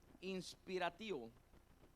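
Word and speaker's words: inspiratio: Es la palabra latin inspirativo i n s p i r a t i o acento en la o vuelvo a repetirlo inspirativo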